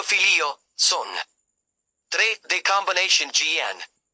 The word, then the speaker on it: figlio: combination gl plus i The combination gli creates a special sound in Italian similar to the li in the English word million.